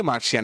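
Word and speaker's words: Martian: জিনিসগুলো সেগুলোকে আমরা বলি মার্শিয়ান এবং সেটার উচ্চারণ হচ্ছে এম এ আর টি আই এন মার্শিয়ান এম এ আর মার টি আই এন মার্শিয়ান মানে বানানের মধ্যে টি কিন্তু হবে আমার তোমার Xi'an M এ আর টি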